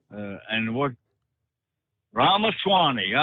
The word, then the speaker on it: Ramaswamy: I think that's how you pronounce his name. Ramaswamy. And what? Ramaswamy.